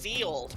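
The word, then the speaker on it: Ye Olde: It's pronounced the old because that Y is is a letter.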